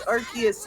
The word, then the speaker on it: Arceus: Yeah, but it's Arceus, like Arc.